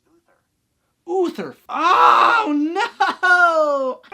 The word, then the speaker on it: Uther: How to pronounce U-T-H-E-R. That's pronounced Uther.